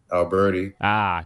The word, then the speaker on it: Albertie: My first initial, Albertie.